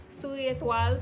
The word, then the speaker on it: Soulier Étoile: My Suri, I feel so weird when I say it like without the accent. Soulier Étoile, so that's basically the name of the company. It's like a French company name, and yeah, he's the Lucas.